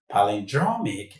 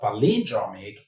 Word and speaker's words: palindromic: Remember the right pronunciation of this word is palendroic not palindroic.